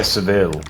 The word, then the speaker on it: Seville: in Spain oh yeah Seville yeah yeah sevil or Silla yeah like Silla you take your pick on how you choose to pronounce stuff yeah you know all